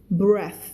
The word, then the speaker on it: breath: พออ่านแล้วเริ่มแบบเอาแล้วไงเริ่มจริงจังแล้วนะ held his breath นะคะมาจากคำว่า hold his breath เอาความหมายเดียวกันก็คือกั้นหายใจเวลาเราฟังอะไรแล้วเราแบบ เนี่ยคำนี้ออกเสียงว่า breath เป็น th นะ breath อันนี้คือ noun ถ้าใส่ e